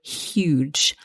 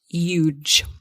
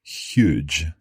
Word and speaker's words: huge: huge statue exactly huge the thing to watch out for here is that we must pronounce that h so huge not huge okay you may hear